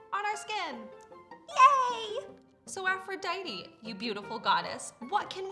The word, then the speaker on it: Aphrodite: It's pronounced Aphrodite.